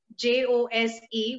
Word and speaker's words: Jose: name apparently because my my surname is uh j-o-s-e which is jose in spanish and it's yeah yeah